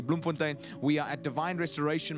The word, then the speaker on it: Bloemfontein: to bloomfontein all right bloemfontein you need to say it correctly bloomfontein we are at Divine